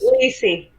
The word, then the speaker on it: Leisy: I know I'm Lacey.